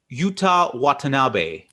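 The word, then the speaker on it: Yuta Watanabe: move on to some more young guys uh utah watanabe i got the pronunciation right i believe because paul uh corrected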